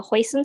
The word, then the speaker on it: hoisin: purple one yeah so hoisin sauce is the Cantonese pronunciation of heisen which literally means Seafood flavored but the ingredients actually